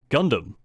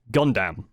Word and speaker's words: Gundam: made in that video Gundam is pronounced Gundam not Gundam it didn't really sound